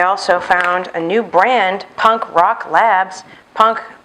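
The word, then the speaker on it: Punk Rawk Labs: I also found a new brand, Punk Rock Labs. Punk, spelled like you think, rock, R-A-W-K, Punk Rock Labs.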